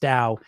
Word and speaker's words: Tao: It's it's to like it's tao is how it's spelled pronounced dao.